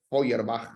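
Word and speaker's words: Feuerbach: esto aparece Power batch oyer Back sería como se pronuncia en alemán pero le decimos la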